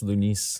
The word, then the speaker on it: Lunice: How do you pronounce your name? Oh, just Lunice. Lunice. Oh, okay, But in 'cause French, it's Lunice.